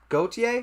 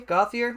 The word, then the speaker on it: Gautier: another one is Ethan Gautier gothier I'm not sure I know there's different pronunciations of the last name so correct me if I'm wrong uh I believe it's goatee yeah okay Ethan Gautier